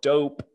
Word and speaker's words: DoughP: of a company called DoughP, and that's spelled like dough, like bread dough or cookie dough with a P on the end.